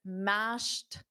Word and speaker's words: mashed: Yes, mashed. Notice the pronunciation with a T.